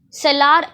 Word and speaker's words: cellar: For example, cellar. Cellar, R is silent.